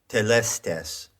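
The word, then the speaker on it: telestai: one of those words is telestes now that is an anglicized pronunciation of the greek word that word is plural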